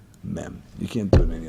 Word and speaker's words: Mem: The letter Mem is the only letter that, in order to pronounce it, you have to open your mouth and close it. Mem.